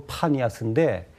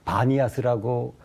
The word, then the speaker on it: 바니아스: 그래서 이제 그 판신을 섬겼다 그래가지고 파니아스인데 이제 발음이 문제가 돼서 바니아스라고 부르게 되었죠.